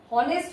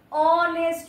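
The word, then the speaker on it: honest: দেখ আমরা যখন হনেস্ট বলি হনেস্ট বলি না। আমরা অনেস্ট বলি।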